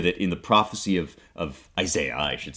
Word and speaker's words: Isaiah: So it's this idea that in the prophecy of Isaiah, I should say, Isaiah is the British pronunciation, in the prophecy of Isaiah, he sees the seraphim calling out to one another.